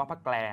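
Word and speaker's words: พระแกล: พระ แปล นะ ครับ อ่าน ว่า พระ แปล นะ ครับ อ่าน เป็น ควบ กล้ำ นะ ครับ พระ แปล ว่า หน้าต่าง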